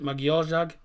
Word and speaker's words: Magyarország: Is it pronounced Magyarország or is it Magyarország? Because I'm pretty sure the S said is pronounced as sh, so it'll be Magyarország, but it's probably different in Hungary.